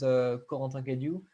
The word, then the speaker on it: Corentin Cadiou: So my name is Corentin Cadiou, pronounced in French, and if you pronounce it in English, it's a bit unfortunate because it sounds like quarantine.